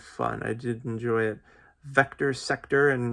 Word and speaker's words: VCTR SCTR: Vector Sector, and the reason why I think that's how it's pronounced is it's VCTR SCTR.